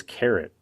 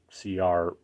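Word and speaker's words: CARET: So what is Carrot? Well, it's spelled C-A-R-E-T, not C-A-R-R-O-T.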